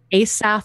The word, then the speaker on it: Asaph: August observing run uh I'm not entirely sure how to say his name because it's an older style name asaph Hall I think is